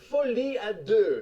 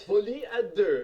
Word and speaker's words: Folie à Deux: And so this one's going to be called Joker Folie à Deux. What? Folie à Deux.